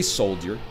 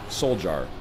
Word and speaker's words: soldier: by the winter soldier i say soldier why because it's spelled with a d it is not s o l j a r soul jar i'm a language rigidless